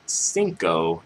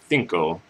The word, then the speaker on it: cinco: pronounce words that like they pronounce the CE, CI, and Z words with like a th sound with like a th. So instead of cinco, it would be cinco, and instead of Ibiza, it'd be Ibiza.